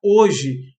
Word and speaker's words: hoje: Mas hoje eu tenho 3 fonemas, porque o H não conta, né? O H só está graficamente escrito. Então temos o, x, i, hoje.